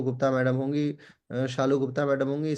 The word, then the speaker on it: शालू: Sallu Gupta madam होंगी। शालू Gupta madam होंगी। Spelling में शालू भी लिखती है तो थोड़ा सा इस पे लेरर हो जाता है।